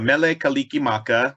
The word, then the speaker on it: Mele Kalikimaka: mealy how do you say that it's a mele kalikimaka which means merry christmas in hawaiian oh kaliki